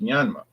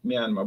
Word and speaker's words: Myanmar: English people say Burma. Americans say Burma. But some of the people in in the capital said, "No, it's pronounced Myanmar." But then some Burmese people over here say, "No, that's what the the ruling party said, Myanmar." But some people in the in the country say Burma and they say no